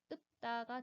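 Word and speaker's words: 읊다: 첫 번째 자음인 리을은 탈락되고 두 번째 자음인 피읍이 남아서 소리를 내게 됩니다. 그런데 이 피읍은 대표음 7개 중 하나가 아니므로 이 피읍은 대표음인 비읍으로 바뀌어 이 단어의 표준 발음은 읍다가 됩니다.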